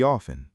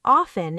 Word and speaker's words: often: Actually, I come here pretty often. Good. The word often is pronounced often or sometimes often. Both are correct.